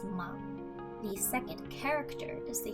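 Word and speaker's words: 間: The first kanji is pronounced ma.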